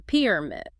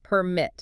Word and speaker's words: permit: increase or permit. But when it shifts to a verb, the stress moves to the second syllable. So increase permit.